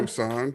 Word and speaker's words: Musson: Pronounce that right? Yeah, first time. Musson.